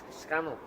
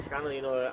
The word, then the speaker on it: Scannell: I think Scannell. I think that's how you say it. It is Scannell. I think Scannell.